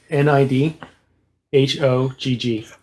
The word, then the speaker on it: Nidhogg: you the look i get so the name is spelled if you want it for the records n-i-d h-o-g-g okay nidhogg oh i've seen that name before